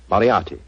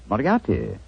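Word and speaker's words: Moriarty: it or mispronounce it I'm afraid I'll have to begin calling it the way it looks m o r i a r t y mariati mariati I shall remember that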